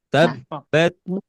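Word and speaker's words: تبّت: Jadi tabbat tabbat tabbat. Tabat. Jadi tidak tabat tapi ditekan dulu.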